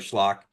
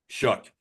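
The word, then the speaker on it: Shough: I see why he started over over Tyler Schllock. Um, Schllock, I can never pronounce his name properly. But shook.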